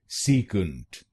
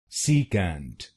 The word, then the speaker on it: secant: If "seat" is seat, it becomes secant, secant, and you need to stress the first syllable, secant, secant. Now, let's learn its American pronunciation. In American English, it's called secant, secant.